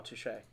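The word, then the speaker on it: touché: Oh, touche. It's pronounced touche.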